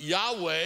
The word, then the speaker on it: Yahweh: And so some people say Yahweh. You maybe have heard the term Jehovah, but Yahweh is probably closer.